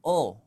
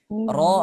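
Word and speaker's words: ر: Ro itu bukan huruf O. Ya, ini salah kita memahami. Ro harus diucapkan ro. Ro, tidak. Bismillahirrahmanirrahim. Tidak. Ro, karena dia berharokat fathah, dia tetap dibuka. Ro. Ro. Nah, dia walaupun tebal, tetapi jangan sampai dia menjadi O.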